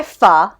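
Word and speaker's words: phở: the last of my f rhymes with duh from the bowl like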